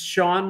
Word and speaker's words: Sean: as Sir Hajj once said my name is Sean it's pronounced Sean uh although it's spelled s-e-a-n uh